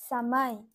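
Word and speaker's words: समय: সময় সময় দন্তস্ব ম অন্তস্থ বলবো সময়। তাহলে অন্তর্জ যদি শব্দের মধ্যে থাকে তাহলে উচ্চারণটা অন্তঃস্থয়ের মতো হবে।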